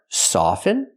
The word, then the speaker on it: soften: pronunciations are correct but the second word soften never pronounce the T it's always silent so we see the